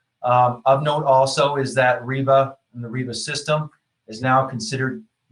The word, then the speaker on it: RIBA: This is called REBA. Some people call it RIBA, and there's other pronunciations, but I call it REBA.